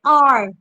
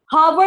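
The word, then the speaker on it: hour: जैसे आर, घंटे को कहते हैं ना हम आर, हावर या आवर नहीं पढ़ते, उसको हम कहते हैं आर।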